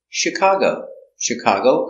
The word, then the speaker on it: Chicago: Detroit very good example Chicago comes from French so we pronounce it soft she Chicago is the accent